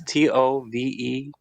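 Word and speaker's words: Tove Lo: Tovlo is Tovelo. Tove. You said Tove. And then like new word Lo.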